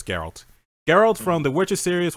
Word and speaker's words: Geralt: in like a couple videos, complain how to pronounce his name. Geralt. I'm pretty sure it's Geralt.